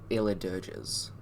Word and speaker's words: Eledirge: These things are called Eledirges. So Eledirg, E at the end. That's how you say it.